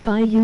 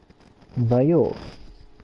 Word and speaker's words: bayou: It's Bayou, that's how you pronounce it. Bayou.